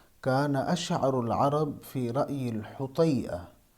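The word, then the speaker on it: الحطيئة: اشعر العرب فی رأی الحطیہ، یہ لفظ حطیہ یا حتیہ نہیں ہے، یہ لفظ میں پہلے بھی بتا چکا ہوں۔ فی رأی الحطیہ یہ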